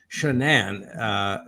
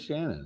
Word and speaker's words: Shanann: he met his wife, Shanann is her name, and it looks like Shannon, but it's pronounced Shanann. I always thought it was Shannon.